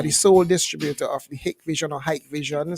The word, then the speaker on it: Hikvision: system we use Hikvision brand some policies pronounced pronouncing the hike Vision but the compostable and pronounced it Vision it's